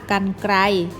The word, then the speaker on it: กรรไกร: อัน กัน ก็ รอ I ไกร อ่าน ว่า กรรไกร บ่ ใบ ไม้ รอ หัน ออก เสียง ว่า